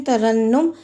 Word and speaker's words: ترنم: بعد اگلا لفظ ہے ترنم۔ تے پہ زبر، رے پہ زبر، نون پہ شد اور پیش اور میم ساکن، ترنم۔ وضاحت دیکھیے، پہلا اور دوسرا مفتوح، تیسرا مشدد مضموم، جیسے تخلص، تحمل، تدبر،